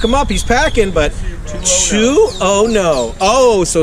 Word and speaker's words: Tuono: My license plate will tell you the proper pronunciation. Okay, don't look him up. He's packing, but Tuono.